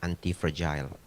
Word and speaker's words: anti-fragile: Ya, nulisnya anti-fragile, F-R-A-G-I-L-E. Pronounce-nya yang benar adalah anti-fragile.